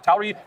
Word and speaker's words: Tauri: Tauri. Has anybody heard that word? Raise your hand if you've heard that word. Come on. No one has heard. You just made that up. Come on. Tauri.